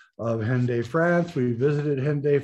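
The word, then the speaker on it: Hendaye: hende france we visited hyundai france pronounced undy in french but i'll do the english english way of speaking it there's a reason for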